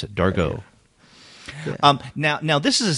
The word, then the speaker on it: Dargaud: Or Dargaud, that's how you pronounce it, Dargaud.